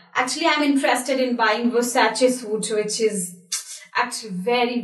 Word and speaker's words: Versace: And the right pronunciation is Versace. Yeah. Actually, I'm interested in buying Versace suit, which is actually very, very beautiful.